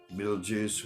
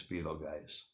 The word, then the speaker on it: Betelgeuse: CNET, Betelgeuse, Beetlejuice, whatever you guys want to call it by, I believe the correct pronunciation is Betelgeuse.